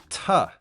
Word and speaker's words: to: And we don't always have to say to, we can pronounce this as ta, like air.